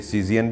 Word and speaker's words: CZN: एक निकनेम रखते हैं जिसे सीज़ियन भी पढ़ते हैं, आम देसी ज़बान में उसे कज़न भी कहते हैं, लेकिन जो प्रोनाउंसिएशन या जो लिखा जाता है वो सीज़ियन बुराक लिखा जाता है।